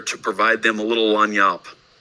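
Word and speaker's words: lagniappe: You may have heard this, maybe not, but this little phrase in the quotation marks, this word is pronounced lanyap. It's a Cajun word that means that little something extra.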